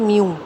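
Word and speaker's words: μ: Tell बनाइए और यू, इसको बोलते हैं म्यू. This is pronounced as म्यू. Pronunciation क्या है इसकी? म्यू.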